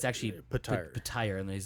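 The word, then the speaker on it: Petyr: It's actually pronounced Patire. Yeah. Oh, I've been pronouncing it Peter this whole time.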